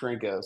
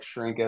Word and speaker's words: Chrenko: So my last name is pronounced Chrenko. So you can imagine I got all kinds of terrible nicknames in high school from that. So, but yeah, like Chrenko, like it's spelled with a CH though.